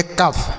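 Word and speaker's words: cough: तो इसे हम पढ़ेंगे कफ। मतलब दोनों को मिला देंगे। ठीक है? तो बन गया कफ। सी से क ओ यू जी एच को अफ बनेगा कफ।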